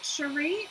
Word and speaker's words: Sheree: Is it Sheree or is it Sherry? Now, I may have to glue my little envelopes back down or whatever because they're coming up, but that's okay. You pronounce it like Sherry.